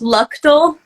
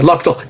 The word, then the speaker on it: Luchtel: do you pronounce it it's pronounced lual Lal I was calling you L okay lo oh yeah yeah that's very common okay loal Jess loal and Jess